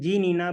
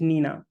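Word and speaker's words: GNINA: see it is written G Nina but the pronunciation of the tool is Nina so we do not pronounce it g Nina it is just Nina so Nina is derived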